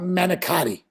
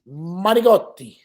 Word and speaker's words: manicotti: It's not Manicotti. Manicotti. What are we, communists? It's Manigotti. There's no G. There's no G. It's Manigotti. It's not a G. It's a T. Manigotti. Manigotti. Manicotti. You got to roll your R's, even though there's no R's in Manigotti.